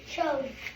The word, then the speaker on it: chose: No, it's, remember, the E, the silent E, the magic E gives power to the O and makes it say O. Chose.